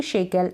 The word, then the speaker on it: शेकल: जंजीर, मतलब कि शेकल, SHAC शे, और कल। तो C और K को साथ में पढ़ दें, मतलब SHA शे और CKLE कल, शेकल, इस तरीके से प्रोनाउंस कर दें।